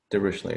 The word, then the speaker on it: Dirichlet: If you wonder how to pronounce this word, Dirichlet, it's a German word.